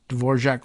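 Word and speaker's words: Dvořák: of tick tock account dor jaac wrote in a report to her superiors I'm assuming that she goes with the same uh pronunciation as the composer of the same name DV o r a k tell me if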